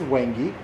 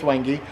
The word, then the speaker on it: Wangi: hand around this is the official pronunciation believe it or not is wangi it looks like w when you buy it at a store but it's wangy so this is brown